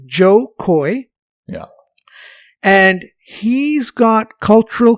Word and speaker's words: Jo Koy: cultural cachet with uh we should spell his name his name is spelled j-o-k-o-y that's right joe coy yeah and he's got